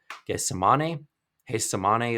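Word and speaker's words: Getsemaní: five minute walk called guess hey samane it's pronounced with an H even though it looks like get some money there's a series of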